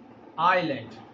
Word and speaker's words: island: We pronounce it island, but many people pronounce it, or many kids pronounce it island. S is here a silent letter.